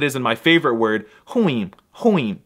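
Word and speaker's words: ruim: But the Portuguese R is bisexual, so in addition to sounding like a normal R, it's also often pronounced like an H, as it is in my favorite word, huim.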